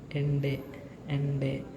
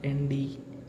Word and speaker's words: Ende: For example, ende is a word, but in English we sound this, pronounce it like this, but in German we pronounce this word as ende, not nd, ende, right?